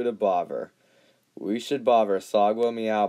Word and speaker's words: Sagwa: We should bother Sagwa Meow by pronouncing her name Sag-Wah to see her reaction.